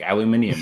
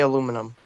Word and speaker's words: aluminum: They say shit different, like aluminium and stuff. Yeah. Aluminium isn't. You're supposed to say aluminum. I say aluminum because I recognise that it's the right way to say it.